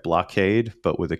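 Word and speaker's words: Bloqade: there's I guess am I saying it right blockade but with a Q so blo q-a-d-e yeah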